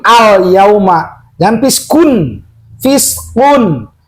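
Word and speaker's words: فسق: Fiskun. Apa bedanya dengan kaf kalau fiskun? Hati-hati. Misalkan contoh gini dibacanya. Dzalikum fiskun. Nah, ini huruf apa? Huruf kop. O berarti kun. Jangan fiskun. Kalau fiskun berarti huruf kaf.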